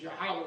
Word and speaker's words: Yahweh: Yo, He, Wah, which is Yahweh.